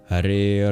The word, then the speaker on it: Hare: There's the A at the end of Hare, and then there's the first A in Rama. Every other syllable is short, including both syllables in Krishna.